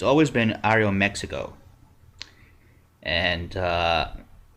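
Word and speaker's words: Aeroméxico: me it's always been Ario Mexico and uh or Ario Mexico as it's correctly pronounced and their first class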